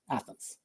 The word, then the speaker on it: Athenz: became a n and z and if you pronounce it becomes Athens that's where the name comes from no no